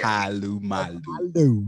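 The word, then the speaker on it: Polamalu: You don't let not one syllable go. Boy, it is Abu Dhabi and Troy Palu Malu.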